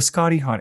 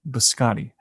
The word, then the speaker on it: biscotti: coffee sticks essentially yeah so um well the scotty hot okay biscotti it's it rhymes it goes off the tongue and it's